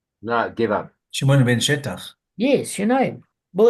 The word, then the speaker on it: Shetach: I don't know how he never got assassinated, but Shimon ben Shetach or Shattach, people pronounce it differently.